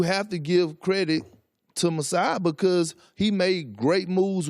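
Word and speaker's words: Masai: this Toronto Toronto team I always have problems pronouncing his name but it's Messiah yeah yeah you have to give him a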